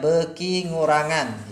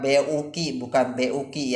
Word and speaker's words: bekingurangan: Ini dibacanya bekingurangan ya. Ini bekingurangan. Bukan buki ya, tapi bekingurangan, semakin berkurang.